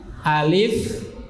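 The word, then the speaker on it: ألف: Tapi bacanya alif, ha, ro, bukan ha, tapi ha, alif, ha, ro, sin, sod, to, ain, qaf, kaf, lam, mim, nun, ha, ya.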